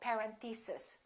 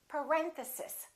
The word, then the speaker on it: parenthesis: mistake on this one a lot of them say something like parenthesis and it's actually the second syllable it's parenthesis parenthesis next one these can